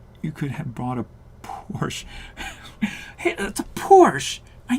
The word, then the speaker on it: Porsche: it's a porsche but a porsche is like chevy to chevrolet in my head so it's a porsche who's got time for two syllables come on now nobody